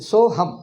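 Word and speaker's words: सोऽहम्: So hum, that's all. So hum, and don't try to put A there. So hum, that's all. A is not pronounced.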